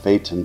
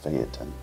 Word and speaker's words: Phaeton: give you a little background on ftin also pronounced Fon by some myself included but the correct pronunciation is ftin I believe in Greek mythology ftin was the